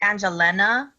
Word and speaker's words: Angelena: it correct yes um it's it's pronounced angelena and then last name